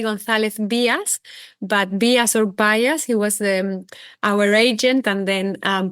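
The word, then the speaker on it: Gonzalez Byass: Today I'm joined by Victoria Gonzalez Gordon, Chief Sustainability Officer at Gonzalez Bias.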